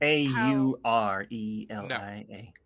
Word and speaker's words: Aurelia: because that was like aura aurelia well that's a u r e l i a aurelia in the boros legion is spelled not the same a u r e